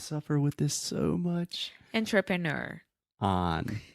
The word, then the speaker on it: entrepreneur: Entrepreneur. On. All of these start with on.